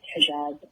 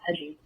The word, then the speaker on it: hijab: It is hijab and not hijab, at least in Arabic.